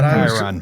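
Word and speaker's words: chyron: It's a Chiron.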